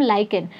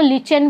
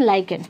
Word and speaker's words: lichen: क्या बोलते हैं उसको हम, लाइकेन। बहुत सारे बच्चे इसको लिचेन भी बोलेंगे, तो इट डिपेंड्स, बट इसका प्रॉपर प्रोनाउंसिएशन इज लाइकेन।